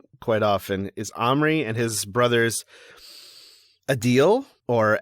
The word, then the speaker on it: Omri: I pronounce it Omri.